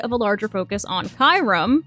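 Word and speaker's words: Kyurem: a larger focus on Kyram. I know I'm going to get roasted for how I pronounce his name. I don't care. I'm not calling it Kierum.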